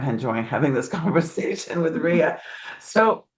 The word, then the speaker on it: Rhea: It's Rhea, which Rhea.